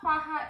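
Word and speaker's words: ਹਾਹਾ: So sound of ha-ha is ha sound. Sound of ha-ha is H sound, ha sound.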